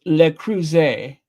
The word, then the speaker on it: Le Creuset: It is pronounced Le Creuset.